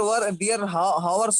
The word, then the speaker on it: hours: Dear friends, the people do this their hours work in few minutes because of technology and smartphone. आवर्स नहीं, आवर्स H silent Hours.